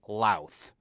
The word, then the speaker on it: Louth: have been saying, Emer McGuire from the country of Louth.